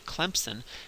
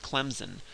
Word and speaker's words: Clemson: realizing it um is if you pronounce the the school Clemson if you if you say it like a good Southerner and you say Clemson um you put a p in there and there's no p in the word if you look at it um sometimes people from up North will pronounce it Clemson with a z and there's also no Z in there phonetics would would